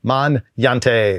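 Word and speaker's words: Magnante: It is M A G N A N T E Man Yante.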